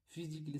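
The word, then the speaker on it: physically: यहां देखिए फिजिकली फिजिकली सी के बाद ए है और डबल एल है। तो यहां पर ए साइलेंट होता है।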